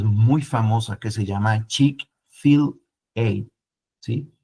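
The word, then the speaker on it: Chick-fil-A: Chick fill a sí como ch de Chicken fill de filete y ellos le pusieron una ación la a sí como cuando usted lo lo lo lee lo pronuncia es como como chic filete sí chic Fil y es interesante la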